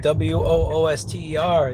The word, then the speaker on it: Worcester: interstate 290 east ramp they would have just labeled it worcester they didn't label it w-o-o-s-t-e-r they labeled it w-o-r-c-e-s-t-e-r for a reason you people can't spell wooster wooster i bet you pronounce